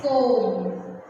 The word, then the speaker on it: comb: The next one is comb. See, in the comb word, we won't pronounce B.